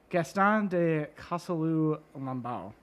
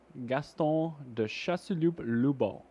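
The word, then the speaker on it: Gaston de Chasseloup-Laubat: I want to talk about Gaston de Casalou Lambau. Is that how you pronounce that? Gaston de Chasseloup-Lubon. Thank you.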